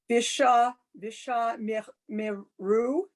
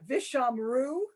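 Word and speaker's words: ושמרו: No, it's the same thing we were focusing on before. It's the dead stop. Because the first under the vid, that's a prefix, so it kind of can get ignored.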